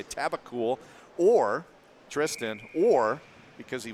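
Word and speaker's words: Tabucol: it's it's spelled t-a-b-u-c-o-l taboo Cole he said just switch the O in the U so taboo cool so I guess we'll say tabacool or Tristan or because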